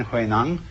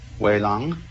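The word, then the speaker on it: Huineng: say why lang but this is simply the Cantonese way of pronouncing the same characters and this is the Mandarin way in Mandarin who a nun becomes Wei long in Cantonese almost say way way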